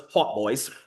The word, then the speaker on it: hautbois: The English pronounce them as hautboys, but today we know them as an oboe.